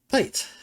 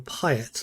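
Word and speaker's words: Paet: So, as we've got the ship parts, let's go back and see Pate. Or Pyatt, as I think I pronounced it for a great many years.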